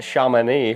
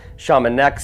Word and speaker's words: Chamonix: Right now, I am in, apparently it's pronounced Chamonix, France. I've been pronouncing it Chamonix this whole time.